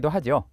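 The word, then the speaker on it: θῆτα: 그러니까 , 이건 'T' 발음 이에요 . 잘못 된 표기법 이 너무 익숙해져서 사람들 은 그것 을 표기 할 때 매우 고집 을 부린다 . 하지만 음성 학 적 으로 , 현대 적 인 관점 에서 보면 'T' 가 실제로 가장 정확 한 발음 입니다 .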